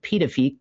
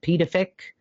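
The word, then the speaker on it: Pituffik: which is now called Pedophik Pedafic I think is how you pronounce that as of 2023.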